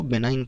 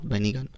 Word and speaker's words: benign: मतलब क्या होता है, इसको बेनाइन पढ़ते हैं, नॉट बेनिगन, प्रोनाउंसिएशन इसका होता है बेनाइन।